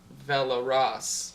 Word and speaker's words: Velaraas: You can say it like that if Can you you think roll you're your cool. R's? Velaraas. There you go. Velaraas. That just makes it sound like a Spanish.